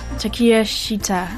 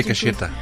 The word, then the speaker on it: Takeshita: My number 2 is Takiya Shita. I believe that's how it's pronounced. I went into Takeshita. Takeshita. Takiya Shita. That's at least what Google Translate said.